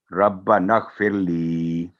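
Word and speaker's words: رَبَّنَا اغْفِرْ لِي: تو یہاں ربا نغفر لی, تو لی کے بعد یہاں بھی 2 سیکنڈ ہوگی, ربنا اغفر لی, یہ ہوگا اس کا صحیح تلفظ.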